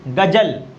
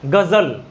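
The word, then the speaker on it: ग़ज़ल: ठीक है, इसको पढ़ेंगे तो क्या पढ़ेंगे? गजल, गजल। लेकिन है क्या सही उच्चारण इसका? गजल, गजल।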